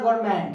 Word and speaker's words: government: नहीं क्या उसमें एन लिखा जाता है, बट क्या एन जो होता है गाइस वो एन साइलेंट होता है, एन जो चुप होता है. ओके, सो गाइस क्या हो जाएगा, गवर्नमेंट लिखा जाएगा एन, लेकिन ये पढ़ा जाता है गवर्नमेंट, यानी एन साइलेंट हो जाता है.